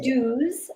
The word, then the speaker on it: Duz: I'm not gonna I'm not going to say pronounce it as dues. Should have been pronounced, but nobody does.